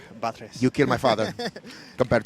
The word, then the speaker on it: Batres: hey so i was heard it's pronounced buttress my name is my name is batres you killed my father